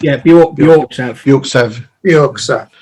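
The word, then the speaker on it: Björksav: So, We were given a sample of the Bork Sav. Is that how you say it, Rich? yeah, Bjork Sav. York Sav. York Sav, right?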